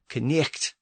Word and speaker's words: knight: So in a word like knight, both the K at the beginning and the GH in the middle represent sounds that were once there but have disappeared.